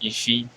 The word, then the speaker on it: IIFE: do we use it it's pronounced iffy and we use it